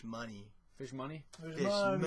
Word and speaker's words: Mooney: You're pronouncing it wrong. It's Fish Money.